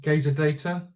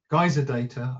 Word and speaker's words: Geyser Data: So, welcome to our webinar, Smart Cold Storage in Action with Gaz Gazer Data, Geyser Data, I keep mispronouncing it, and Arp5 Archive.